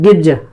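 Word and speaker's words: Gibbs: लोग उसको बोलते हैं, कुछ किताबों में हो सकता है गिब्ज सा की जगह ज मिले, तो उसमें कंफ्यूज होने की आवश्यकता नहीं है, वो उच्चारण का तरीका है अपना अपना, कुछ सा बोलते हैं कुछ जा बोलते हैं, ठीक है, इसमें कंफ्यूज बिल्कुल ना हो।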